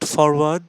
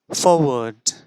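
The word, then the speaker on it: forward: ডব্লিউ এ আর ডি ইটস নট ফরওয়ার্ড ইটস ফরওয়ার্ড ইটস ফরওয়ার্ড একটু আগেই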